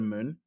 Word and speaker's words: Mun: i try and get to the moon um yeah because it's spelled m-u-n i know it's still